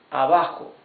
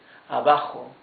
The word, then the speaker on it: abajo: This is abajo, means down. Remember that the J, the letter J, is like a much rougher H in English, right? It's not abajo, it's abajo. Okay, abajo means down.